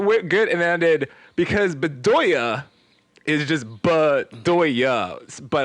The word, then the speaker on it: Bedoya: good and ended because bedoya is just but doings but i do i did bedoy and then oya like i just confu i used the last syllable twice to use the and